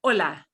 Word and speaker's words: Hola: Oh, here's a silent H right away. Hola, hola, Hola.